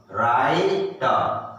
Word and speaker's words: right: अब देखो यहां पर दोबारा GH साइलेंट हो गया, चुप, GH चुप, है ना, साइलेंट, तो क्या बच गया, टी से क्या होता है, राइट, राइट। हम लोग राइट हैंड होता है, राइट हैंड, है ना, राइट ऐसे लिखते हैं, RIGHT, लेकिन वहां पे GH का साउंड नहीं होता है ना, राइट।